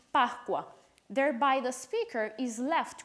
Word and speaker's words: Pascua: They would be pronounced in two different ways. In Italian, Pascua, and in Venezuelan Spanish, Pascua.